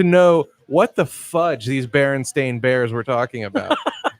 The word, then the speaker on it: Berenstain: what the fudge these Berenstain Bears were talking about. Berenstain. Berenstain. Correctly pronounced. I don't know what universe are we actually in? Are they Steens or Stains? I thought it was Berenstein.